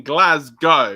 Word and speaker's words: Glasgow: It's spelled Glasgow. I mean Glasgow. Yeah, it's a G, not a C. So yeah. Anyway, but it's like Moscow though, isn't it?